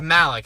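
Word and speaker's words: Malek: no no it's not believed I know it's Malik I just can't pronounce it Malik I'm gonna call him rammie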